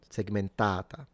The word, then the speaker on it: segmentata: And then segmentata has a long ah in the last a segmentata. Not the last one, the one before the penultimate.